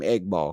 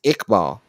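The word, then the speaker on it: Iqbal: my boy name eball we call him eggball because it's spelled eggball IG g g ball swear to God it's ikbal and his last name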